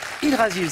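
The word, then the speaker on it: Yggdrasil: Hydrasil, ça s'écrit I-2-G.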